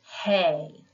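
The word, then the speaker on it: ἡ: but just know that this Ada with the breathing Mark over it as we've learned is pronounced hey so when you memorize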